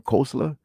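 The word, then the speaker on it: Koestler: tribe um the 13th tribe by Arthur kosa pronounce his name kosla where pretty much they're saying that uh historically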